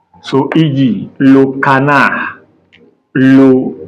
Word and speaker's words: canard: So, D is silent when it is the last letter. Our D in French is silent when it is the last letter. So, e.g., le canard, le canard, le renard, le canard, D is silent.